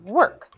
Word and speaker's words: work: it with an E so make sure you really pronounce that R sound work she has